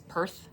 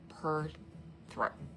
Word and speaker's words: Perthro: So it's always Perth for me. But they like to say P e r and then throw. So per throw per throw.